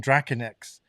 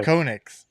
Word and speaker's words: Draconix: But then I was always saying Draconix, but it's not. It's actually pronounced Okay. Draconix, Yeah.